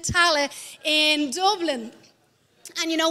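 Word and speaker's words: Tallaght: church in our hometown of tala that's how you pronounce it tally in dublin and you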